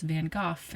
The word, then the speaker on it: Van Gogh: And I'm also aware of the fact that people in the UK pronounce Van Gogh as Van Gogh instead.